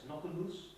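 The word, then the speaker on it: Knockennus: this chat and then the pronunciation here is unbelievable it's k-n-o-c-k-e-n-n-u-s knock on loose he wasn't allowed by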